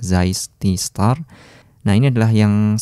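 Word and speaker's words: Zeiss: tulisan Zai bintang ya alias bacanya ada zais disetor nah ini adalah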